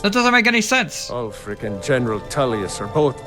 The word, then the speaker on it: Ulfric: It's pronounced Ulfric.